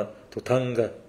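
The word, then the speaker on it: dhutanga: 13 อย่าง นะ ครับ คำ ว่า ธุดงค์ เนี่ย ใน ภาษา อังกฤษ หรือ ว่า ใน ภาษา ฮินดี้ เนี่ย คน ก็ จะ ออก เสียง ว่า ทุ ทังกะ นะ เพราะ ฉะนั้น เวลา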